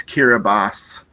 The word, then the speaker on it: Kiribati: And yes, for some reason, the TI is pronounced with an S sound. So it's Kiribati, according to YouTube.